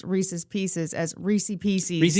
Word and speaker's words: Reese's Pieces: I fully admit Reissi PC is not correct. It is Reese's Pieces.